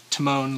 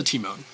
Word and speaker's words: Temon: And pronunciation-wise, little thing, most of us would say Timon, like Timon and Pumbaa, but in Greek, I guess the translation, it does mean, or it's pronounced Temon, so an emphasis on the E, and it means mine in Greek.